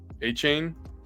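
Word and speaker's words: Achane: And then in my work league, I had Gibbs and A-Chain.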